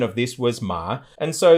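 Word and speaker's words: 妈: And so the pronunciation of this was ma. And so the thing that had to do with women that sounds like ma means mother.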